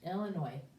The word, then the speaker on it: Illinois: And then we don't even say the S, because that's just the way it's pronounced, Illinois.